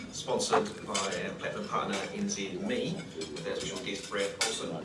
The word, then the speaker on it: NZME: a very warm welcome to our event sponsors nzme and for those of you like me that thought it might have been nzme until lately now it's pronounced NZ me um